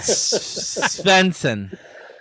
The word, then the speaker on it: Svendsen: I want to I want to hear you try Spencson. Pretty good. Is it? Okay. Okay. Yeah. All right. Yeah. The D is silent, so just Okay. Cool. Thank you, Joey and Jared Spencson.